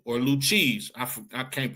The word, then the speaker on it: Lucchese: Tommy Gagliano, and Tommy Lucchese or Lucchese. I can't pronounce his name. Or Lucchese, that's how you pronounce it.